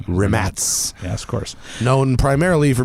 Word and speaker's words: Rimac: heard of them out there is actually spelled RI m Acey yes and you probably think it's pronounced Rimac yeah but it's rim ads ass course known primarily for being sailed off